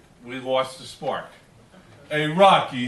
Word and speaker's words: Rocchi: true my name is rocky it's spelled rocca childhood it's pronounced like rocky and let me tell